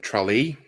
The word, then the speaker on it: Tralee: He was born in Tralee, is how you say it, which is in southwestern Ireland.